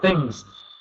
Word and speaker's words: things: you knew because you changed it you went Tings and then went things so I knew you knew but yeah trying